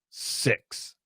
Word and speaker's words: six: Six, six, six. You got to shoot the sound down. Six. Sex. Much bigger sound, and the sound when we do the short E, and I'll change colors here. The short E, the is going to come straight out like this.